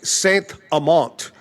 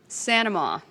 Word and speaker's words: St. Amant: I like to say Saint Amant. Claire Saint Amant. But she pronounces it Sanama.